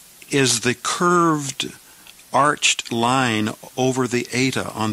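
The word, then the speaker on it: ἀρχή: So we will pronounce this second word arche. Arche.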